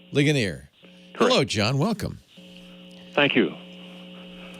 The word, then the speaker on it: Ligonier: How do you pronounce that? Hello, Leo. It's Ligonier. Ligonier.